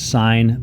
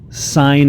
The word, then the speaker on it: sin: this mathematically all right we pronounce it sine of angle a I know it looks like sin of angle a or sin of a